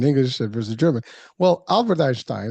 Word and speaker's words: Einstein: Well, Albert Einstein, and I'm throwing it in the German way.